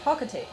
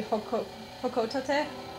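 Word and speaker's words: Hocotate: my family on planet Hokote. Actually, apparently I'm saying it wrong. I hear it's supposed to be Hokotate for the Japanese pronunciation.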